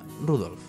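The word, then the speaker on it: Rudolf: más fácil gracias bueno el nombre de este hombre se pronuncia rudolph de odiar al abuelo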